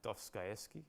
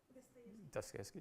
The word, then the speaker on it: Dostoevsky: And then we got, this is like Dostoevsky, apparently. Is that how do you pronounce it? Dostoevsky, yeah, whatever.